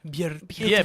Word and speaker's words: Björk: Björk rhymes with jerk.